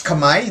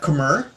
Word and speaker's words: Khmer: kamai empire okay so it's pronounced as kamai not khmer and it's based in